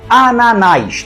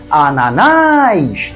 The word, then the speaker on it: Ananás: receba o assento gráfico Ananás tem três sílabas e a mais forte é a última Ananás Então se ela é